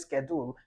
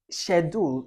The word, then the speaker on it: schedule: And the person says schedule. That's correct, yes, but it's wrong too. It's schedule is also incorrect. Yes, it can be sh, it can be sk.